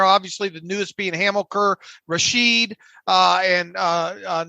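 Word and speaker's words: Rashed: think both guys have had their moments it's rasheed you said right rasheed yeah it's at least the pronunciation i've seen this hamilkar hamilkar rasheed okay i'm gonna i'm gonna probably say richette a lot so i apologize in advance but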